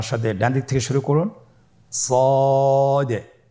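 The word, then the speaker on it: صاد: সদ হরফটি পর হরফ। মোটা হরফ উচ্চারণ ক্ষেত্রে মোটা করে পড়তে হবে এবং উচ্চারণ করার সময় তিন আলিফ টেনে পড়তে হবে।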